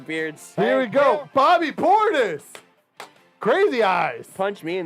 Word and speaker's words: Portis: 17 cents i think bobby portis uh it's pronounced portis bobby portis uh beat kentucky and kentucky and